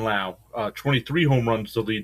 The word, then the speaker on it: Lowe: I think it's Lau, even though it's spelled low. I think it's Brandon Lau.